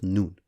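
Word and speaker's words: نون: And in Arabic, the letter N, when sounded out, is pronounced Nun.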